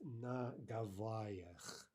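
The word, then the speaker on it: на Гавайях: It's na gavayach, and that is a prepositional plural ending, ach yach, which of course we're not studying yet, but here it's inevitable, right?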